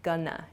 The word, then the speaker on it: gonna: Try shortening both of these expressions. Going to shortens to gonna, G-O-N-N-A, gonna. I'm gonna, I'm not gonna.